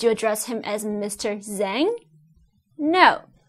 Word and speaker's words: Zhang: address him as mr zhang no z-h-a-n-g is pronounced as zhang z-h in chinese sounds